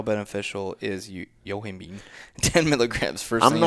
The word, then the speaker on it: yohimbine: it was like a misspelling Yoh I MBE yohimbine yohimbine is a fat loss supplement she's asking how much do you take for someone in a cutting phase how beneficial is you yohimbine 10 milligrams first name 3 I'm not gonna